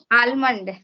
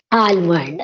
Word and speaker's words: almond: Almond. Almond. That is the wrong pronunciation, in which we have to drop the sound of L. L is silent in it is almond.